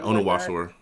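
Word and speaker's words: Onwuasor: I've heard so many different pronunciations. Is it Onawasor? Yeah, Onawasor.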